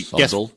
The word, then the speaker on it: subtle: I mean, it's hey, subtle. Yes, subtle. I'm telling you, man, I am off my beat. I mean, you pronounce the B, ladies and gentlemen. That's right. It's subtle.